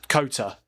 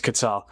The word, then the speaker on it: Qatar: I pronounce Qatar Kota. Do you? Yeah, that's just not how you say it, mate. It's Qatar.